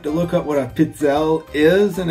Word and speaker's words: pizzelle: And then there was the Pizzelle maker, and that's how you pronounce it, I think. I looked it up, and that's kind of what the guy was saying. They are called Pizzelle. Pizzelle. Pretty straightforward.